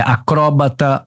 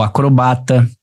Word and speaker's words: acrobata: palavras de dupla prosódia assim como e acróbata ou acrobata Tá bom se você tem lá acróbata ou acrobata isso é dupla prosódia xerox ou xerox